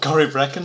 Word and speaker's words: Corryvrekan: Oh, Corryvrekan.